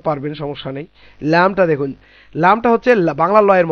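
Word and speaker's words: لام: লাম জিহ্বার আগা ওপরে ওপরের দাঁত, মানে উপরের দাঁতের গোড়া মাড়ির দিকের অংশ লাম উচ্চারণ হবে, যেমন আল্লাহ, লিল্লাহ, লা, লি, লু, খুব সহজ, এটা বাংলা লয়ের সঙ্গে মিল আছে।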